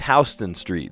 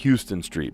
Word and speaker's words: Houston Street: No, it's Hston Street. They pronounce it H Street. The whole rest of the world would pronounce it Houston Street, but they pronounce it H Street.